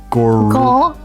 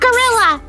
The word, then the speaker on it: Gorullia: How do I pronounce her name? Gorullia. Gorullia. Yeah. Not gorilla.